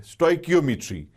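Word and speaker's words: stoichiometry: इसकी प्रोनाउंसिएशन है आज की डेट में एज पर IUPAC स्टोइकियोमेट्री।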